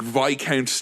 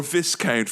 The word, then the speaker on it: Viscount: delicious kind of like VI count type of biscuit or Viscount for those of you who subscribe to pronouncing things wrong um like a dark